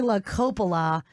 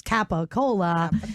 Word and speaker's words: Lori La Coppola: And then the one and only, let's pronounce her name correctly this time, Lori La Coppola. To me, she's Capicola.